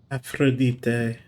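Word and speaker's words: Aphrodite: Mars is Aries um Venus is afrodite which which is if I'm remembering which is the uh proper Greek pronunciation of her name this isn't one of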